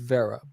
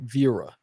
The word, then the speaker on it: Vera: It's pronounced Vera, but in school, my teachers would always say Vera. They would somehow add an extra letter in there. It's like it's not Vera, it's Vera.